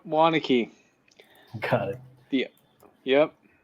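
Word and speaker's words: Waunakee: Okay, I'm gonna have to ask you how to pronounce that. Is that Wanaki or? Yep, Wanakee.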